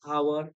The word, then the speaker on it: hour: ऑनर, ऑनर में H silent है, आवर H silent.